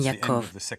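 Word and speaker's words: יעקב: James occidentalisées et le nom Hébreux d'origine Yakov tel qu'il devait être prononcé vers la fin de la période du second Temple car dans bien des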